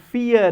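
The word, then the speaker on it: vier: dry three and four dry fear because v is pronounced as f four and the next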